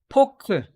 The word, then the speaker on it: 포크: 포크. Right? So we have no F sound. We have no F pronunciation. Right? So we can just say 포크.